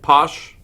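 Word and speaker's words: pwsh: came and said yeah it's spelled PW SH but I'm pronouncing it posh so you may have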